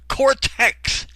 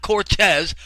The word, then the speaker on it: Cortez: He says Alexandra Occasional Cortex. Cortex, not Cortez, Cortex.